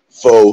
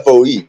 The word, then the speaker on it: Faux: I would spell it F-O-E, but F-A-U-X. The X is silent. Okay, if you say so. I mean, I've lived here off and on for like 3 years. We call it. It's faux.